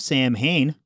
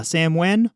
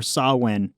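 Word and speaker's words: Samhain: both pronounce it better they called it sam uh samwen or sawin either of those are apparently the appropriate pronunciation yeah something about it not originally being english yeah old gaelic celtic so yeah applying english pronunciation however clear it may seem at a glance is apparently not quite correct this is what we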